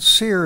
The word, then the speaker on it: Seir: sir mount seir s-e-i-r is the way i spell it in english the range of mount seer is located on the east side of the